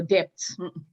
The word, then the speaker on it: debt: The B inside is silent. So when we say, what is your debt?